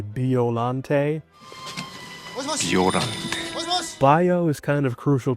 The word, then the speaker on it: Biollante: BIOLLANTE. But to be more accurate to the Japanese word, you would say BIOLLANTE. BIOLLANTE.